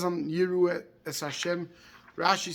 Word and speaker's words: יראו: So the Radak points out on the pasuk of Yirahu, Ha'alef Nocha, V'ilu ha'yinira ha'yala mishkal Shimru shenikra Kadosh, that he says the Aleph is Nocha, the Aleph is silent, the Aleph is not pronounced.